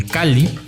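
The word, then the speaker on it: calli: los sonidos del agua cuando veas una doble l como en cali esta suena como sea cada sílaba le perteneciera una de crisis el cáliz o más sencillo como una ele larga está jamás suena como y cachi la h es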